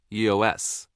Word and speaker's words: /e/OS: EOS pronounced EOS is a fork of the Android open